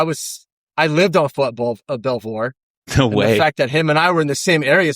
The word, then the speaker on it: Belvoir: How do you pronounce this base? Is it Belvoir? Uh Fort Belvoir. Belvoir Belvoir. Yeah, that's Belvoir.